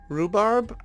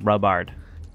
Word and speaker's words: rhubarb: Rhubarb? I don't know. No, I said rhubard. That's because you don't know how to properly pronounce it. It's rhubarb. No, it's rhubard.